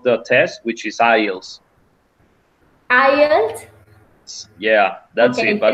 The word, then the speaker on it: IELTS: thing that I have to say is the pronunciation of the name of the test, which is IELTS. IELTS. Yeah, that's it. Okay, But thanks. it was great. So thank And you. IELTS.